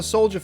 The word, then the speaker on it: Soulja: And it's kind of just like how he pronounces it, you know? Right. Soulja.